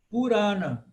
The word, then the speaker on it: Purana: Ó, Purana. Por quê? Porque o segundo, né, o A, o Ra, é longo. Purana. Não é Purana. Não é Purana. Purana. Porque o segunda sílaba é que é longa.